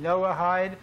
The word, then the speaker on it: Noahide: go into the internet and just type in Noah hi you will and by the way you spell it n o ACH IDE okay I know ACH I D Noahide type it in and you're hopefully get a